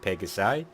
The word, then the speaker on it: Pegasi: I have a tendency to ask questions like Pegasi, which I found out is the right way to say it, so thank you to you.